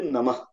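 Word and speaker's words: नमः: In Dakshina, only Maharashtra, they pronounce Namah. Even at the end. It is Namah. Okay. There is no rule for that, but the proper pronunciation will be Namah.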